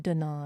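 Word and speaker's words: Dannon: I'm not sure Dan's believe it's pronounced don don sure that sounds better Don's Light and Fit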